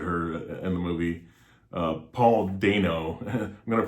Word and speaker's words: Dano: Paul Dano, I'm going to pronounce his name Dano, even though I've heard it pronounced Dano and Dono before as well, but I'm going to go with the long A.